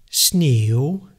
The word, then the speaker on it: sneeuw: The W at the end of a word we pronounce even more softly, almost like being a part of a vowel, usually preceded by the letter U. Examples: sneeuw, nieuw, nou. So this W sound actually is almost not really pronounced.